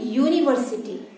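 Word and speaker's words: university: यूनिवर्सिटी।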